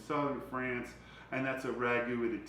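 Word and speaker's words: ragout: And you want this as a ragu, a ragu is spelled this way as R-A-G-U, and then there's a ragu, which is French, which is R-A-G-O-U-T.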